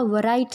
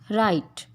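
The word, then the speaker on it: write: ये वरिस्ट नहीं होता, वराइट नहीं होता, रिस्ट, राइट।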